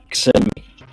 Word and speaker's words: Kissimmee: It's pronounced Kissimmee, right? Kissimmee. Kissimmee.